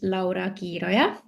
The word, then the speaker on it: Laura: So, my name is Laoya is the correct pronunciation.